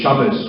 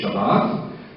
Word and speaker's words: Shabbat: We don't say Shabbos, we say Shabbat, but we don't say Kadosh, Kadosh, Kadosh.